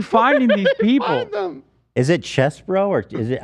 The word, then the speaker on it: Chesebro: Is it Chesbro or is it? I mean, it's spelled like cheese. It's CHESEBRO. It's like probably Chesebro, maybe.